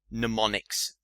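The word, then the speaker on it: mnemonics: before be wary that it starts with m it's spelled m n e m o n i Cs pneumonics and it just refers to any technique that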